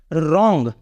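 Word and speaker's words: wrong: डब्लू आर ओ एनजी यहां पर भी डब्लू के तुरंत बाद आर आ रहा है इसलिए इसको हम बोलेंगे रंग क्या बोलेंगे रंग रंग मींस गलत तो हमारा स्पेलिंग रूल यही कह रहा है कि अगर शब्द का पहला अक्षर डब्लू हो और उसके जस्ट तुरंत बाद आर आए तो डब्लू का उच्चारण नहीं होता नेक्स्ट रूल देखते हैं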